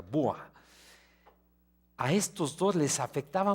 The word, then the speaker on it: Boers: los comerciantes los boa los escribe boers y se pronuncia bua a estos dos les